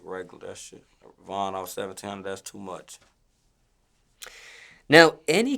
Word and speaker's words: VonOff1700: Yeah, they be calling me all type of dumbass shit. Like Vono and Von Off and all type of shit. It's VonOff1700 though. Do people misspell it?